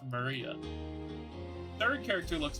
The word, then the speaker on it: Maria: is written like that of course that is pronounced Maria third character looks like her cross which is